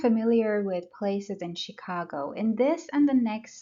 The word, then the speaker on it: Chicago: Chicago, second syllable.